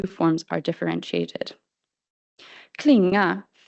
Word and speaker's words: klinga: Klinga carries accent 1, and femton carries accent 1. In klinga, the second syllable carries the highest pitch in the word, but in femton, the first one does.